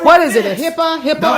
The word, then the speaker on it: HIPAA: HIPAA.